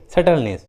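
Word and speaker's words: subtleness: टी के just पहले बी है, इसलिए बी साइलेंट है, सटल। उसी तरह डेट, सटलनेस।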